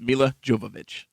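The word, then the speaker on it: Milla Jovovich: let me fix it i butchered that little lorna movie it's mila jovovich there you go it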